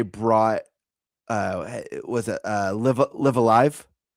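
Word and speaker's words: Live A Live: way that they brought uh was it uh live Alive?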